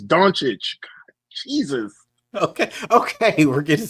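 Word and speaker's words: Dončić: Luca's name bro please say it right it's donic Jesus okay okay we're getting sidetracked with the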